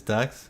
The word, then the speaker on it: Dukes: So, do we pronounce it Dukes or Ducks? And is his name Chinese at all? Because I'm not familiar with that last name. Yeah, Yang. It's Ducks? Okay. Alright, I guess it's Ducks then.